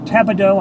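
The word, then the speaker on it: Tapado: Up here is Tabido, I think that's how you pronounce it.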